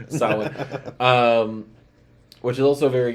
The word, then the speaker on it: Samhain: Treat, about Halloween traditions, and Samhain or Samhain and Samhain. Yeah. Well, many different pronunciations, but the correct one, Samhain, which is also a very good movie.